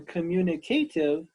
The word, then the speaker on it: communicative: communicative the next line communicative this is five syllables can you say communicative communicative this is the adjective